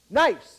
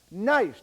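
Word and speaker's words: gneiss: just north of wachi G NE I SS that's right you you guys are are geologists you know how to pronounce that right nice that's how you pronounce it nice G NE I SS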